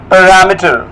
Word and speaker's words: parameter: many of you but it's right pronunciation is parameter not meter meter parameter these are the parameters